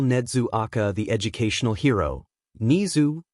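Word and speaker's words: Nezu: Nizu, pronounced the same way as his normal name.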